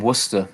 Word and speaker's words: Worcester: i grew up in worcester in england and we live how do you spell that w-r-w-o-r-c-e-s-t-e-r warcester worcester lots of silentness like gloucester same thing um yeah letters yeah